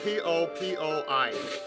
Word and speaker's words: Popoi: It's spelled P-O-P-O-I.